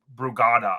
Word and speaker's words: Brugada: he had passed from it was Brugada, I believe is how you pronounce it, Brugada syndrome.